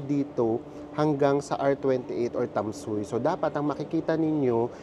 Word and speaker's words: Tamsui: are here ang basa pala sa kanya ang pronunciation sa kanya ay tamsui tamsui nandito na tayo sa tamsui station and